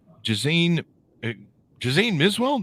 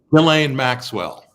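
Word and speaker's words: Ghislaine Maxwell: as varied as the bernie madoff scandal um jason jose miswell am i pronouncing that right relaying maxwell is how you pronounce that oh i've always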